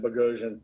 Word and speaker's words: Boghossian: uh uh bogosian uh bojocian it's it's yeah is an armenian pronunciation and it's a little tough to do yeah i tell everybody it rhymes with explosion just to make it easy explosion bogotion there you go there